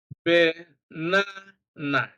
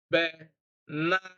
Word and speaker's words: banana: Banana. Stress is on na, the middle na, banana. All right.